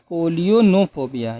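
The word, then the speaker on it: scolionophobia: next word is call you no phobia is scolio no phobia you have to take care of this spelling a little bit tough to pronounce but you can do it s-c-o-l-i-o-n-o p-h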